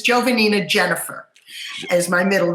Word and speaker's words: Giovannina: uh hello actually it i'll let you in on a secret that really my name is jovannina jennifer is my middle